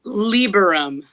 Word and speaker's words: Lieberum: How do you pronounce the last name? It's Lieberum.